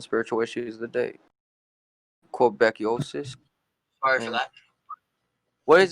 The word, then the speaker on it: Québécois: Québécois. sorry for that. What is that word, Shogun? How do you say that? Québécois? Québécois.